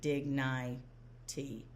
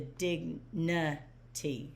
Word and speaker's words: dignity: So normally we would say it's a long vowel and we'd say digny t. No, it's an open syllable exception. So a lot of Orton Gillingham programs will code it as an open syllable as it is and then say no that's an exception.